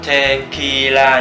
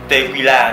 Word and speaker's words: tequila: Và mặc dù viết là tequila nhưng đọc là tequila nhá. Tequila, đừng vào quán bar và gọi cho một cốc tequila nhá.